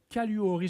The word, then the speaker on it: Caluori: J'espère que je Caluori, j'espère je le prononce comme faut. Oui, c'est bien ça. Vous prononcez exactement comme ça s'écrit.